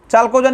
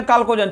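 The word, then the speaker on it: Chalcogen: चलिए चाल्कोजेन या काल्कोजेन, चाल्कोजेन या काल्कोजेन है ना, चौ बोलिए या को बोलिए है ना, सी से इसका उच्चारण करना।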